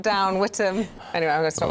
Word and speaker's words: Witham: So it's spelt Witham, but it is Witham, Ellie, yeah? It is. It's Witham, yes.